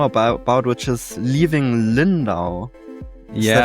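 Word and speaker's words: Lyndow: didn't even know about about, which is Leaving Lindal. Yes, is that how you pronounce it?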